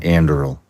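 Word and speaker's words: Anduril: are involved in so many things how about Andel did I pronounce that correctly yes so andil is the one that Palmer lucky who got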